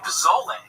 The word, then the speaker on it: pozole: Now, if you look up chicken, I believe it's Pozole, and it's pronounced pozole for all you fucking gringos out there.